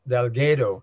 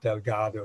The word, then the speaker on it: Delgado: not the others um my family name is pronounced delgo in Jamaica but I'll try and use the Spanish and Portuguese pronunciation of Delgado throughout I may lapse